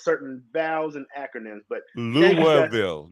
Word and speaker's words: Louisville: vows and acronyms but louville not Louisville yeah it all has